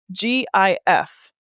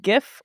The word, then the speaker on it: GIF: How should everyone pronounce GIF? Is it GIF or is it GIF?